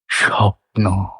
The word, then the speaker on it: স্বপ্ন: অনুভবটা প্রকাশ করতে পারলাম স্বপ্ন তো এখানে দুটো সিলেবেল সপ একটা নো একটা যদিও বানান লেখা থাকে দন্তস বয়ে কিন্তু আমরা উচ্চারণ দন্তসই করছি শুধু বা দন্তসও করছি না তালবস করছি স্বপ্ন কারণ এটাই স্বাভাবিক মান্য উচ্চারণ তাহলে দুটো সিলেবেল একটা